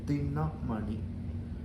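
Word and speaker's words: दिनमणि: Every vowel here, every syllable here is short. So when you were singing a words or speaking Sanskritam or saying it, even in regional languages also, you have to say dinamani.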